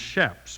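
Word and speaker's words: chaps: h a PS and it's pronounced shaps with an S sound shaps is an abbreviation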